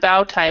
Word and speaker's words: bow tie: Okay, and we would say, instead of bow tie, we would say a bow tie. So, bow on this one, the pronunciation is slightly different.